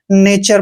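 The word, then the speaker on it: nature: आया है तो इसको नेचर पढ़ेंगे ठीक है तो यहां पर टी का उच्चारण च किया है नेचर नेचर क्या होता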